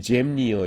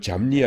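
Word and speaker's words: Jamnia: 근데 이거를 그러니까 고유명사니까 안 바꾸고 그대로 영어식으로 읽으니까 이게 갑자기 잼니어 이렇게 되는 겁니다. 그래서 이거를 잠니아 이렇게 나오는데 잠니아, 얌니아 똑같은 거고요. 얌니아가 훨씬 더 원어에 가까운 발음이라는 거 알아두시기 바랍니다.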